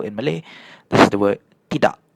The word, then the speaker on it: tidak: So for example in Malay this the word tidak. Notice how I didn't say "ti-dak-k". I say "ti-da' "so that's the the right way of saying it and this is atuk.